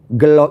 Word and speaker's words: gelo: Gelo itu tulisannya gelo tapi bacanya gelo.